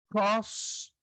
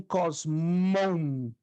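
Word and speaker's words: κόσμον: Tom, cosmo. Alguns eruditos pronunciam só cosmo, outros pronunciam cosmon, porque tem a letra, não é? No final. Então pode ter duas pronúncias a palavra mundo.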